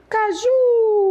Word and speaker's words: caju: Não, você vai dizer, traz um suco de caju. U é a última sílaba que é a mais forte.